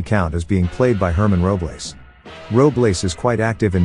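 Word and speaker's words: Germán Robles: it looks in spanish the letter g has an h sound so think of the thirsty count as being played by herman robles roblace is quite active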